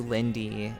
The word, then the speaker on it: Liindy: So, if you had to describe yourself to someone who didn't know who you are, um how would you describe who Lindy is?